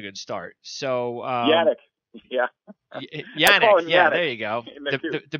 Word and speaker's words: Yannick: Yannick.